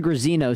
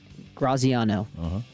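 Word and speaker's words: Graziano: ESPN Dan Graino said Cowboys proposed Georgia. Dan Graino or Dan Graciano. Graciano.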